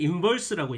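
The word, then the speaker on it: inverse: 자, 이거 읽을 때는요, f의 역함수 또는 f의 인버스라고 얘기해 줘야 돼요. v 발음이에요. 인버스.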